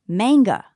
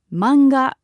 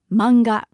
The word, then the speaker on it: manga: it might be pronounced manga but in Japanese we don't have that strong a sound so it's simply manga manga to mean comic book